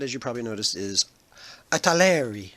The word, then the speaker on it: Italeri: you probably notice is italeri I guess is how you would pronounce that and it's made